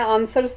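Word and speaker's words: answer: सा letter silent है आंसर है मैं इसमें शाबाश डब्लू जो है वो की आवाज निकालता है तो हम आंसर में डब्लू जो है वह साइलेंट है मैं इसी तरह जब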